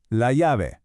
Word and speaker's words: la llave: This is la llave. One more time. La llave. Now, listen close to this one. That double L in Spanish makes a Y sound.